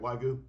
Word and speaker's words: wagyu: Wagyu steak is that how you say it wagyu I've had wagyu before it's so good